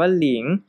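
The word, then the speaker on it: 零: 2 0 นะ ครับ ใน ภาษา จีน อ่าน ว่า หลิง นะ ครับ แล้ว เวลา เรา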